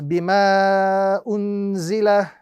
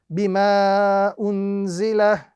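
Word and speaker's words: بِمَا أُنْزِلَ: So the correct pronunciation of this particular example is bima unzila, bima unzila. A little bit shorter than the previous mud, which was a little bit longer.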